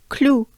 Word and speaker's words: Cloud: um with saints and this one is saying cloud if you will in english but don't pay too much attention at that in clue clue um yeah that's a cute clue i hope but it's clue so clue some clue